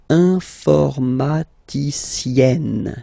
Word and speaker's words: informaticienne: And you get the sound informaticienne. Sienne. Remember E and then double N, or then it could be double L or double consonant here. You open your E, so it's E. Informaticienne.